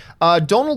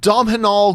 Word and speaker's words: Domhnall: say domhnall gleeson and Dom had all Gleason and doom all grease Gleason like I to say all different types ways just think just think tonal but with the D O'Donnell domhnall gleeson there you go